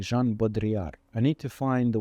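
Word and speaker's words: Baudrillard: in the world of I'm always mispronouncing his surname uh Jean bodri I think would would be correct I need to say it more confidently Jean bodri I need to find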